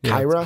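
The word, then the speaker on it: Qi'ra: I was right okay it says here it's pronounced k IRA okay Kyra Kyra Kyra Kyra whatever I'm gonna say I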